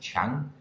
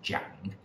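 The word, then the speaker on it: 长: It can be pronounced qiang, or it can be pronounced jiang. If it's qiang, it can mean long or length, like in qiang duan. And if it is jiang, then it can mean to grow up, like in jiang da.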